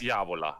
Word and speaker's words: Diavola: How do you pronounce Diavola, that? yes. Diavola, okay.